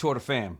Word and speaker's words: Femmes: particular one and de Femmes. The MEs is apparently the last MEs is silent.